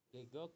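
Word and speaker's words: 계곡: apa Gok gegok gegok ingat di bacanya E gegok itu artinya cuk apa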